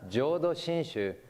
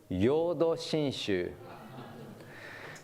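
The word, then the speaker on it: Jōdo Shinshū: but pronounced yudo and people who don't know how to pronounce jodo shinshu call it yodo shinshu so what do you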